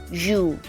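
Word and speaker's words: ㅠ: So remember this vowel, it is pronounced oo. But if it's double, that makes it you.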